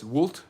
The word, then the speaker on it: Vult: Deus Vult refers, by the way, it's Vult. V is actually W in Latin, like almost in German it's the reverse. The W is a V.